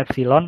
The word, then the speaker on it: epsilon: Ini bacanya epsilon ya. Ini huruf Yunani. Bacanya epsilon.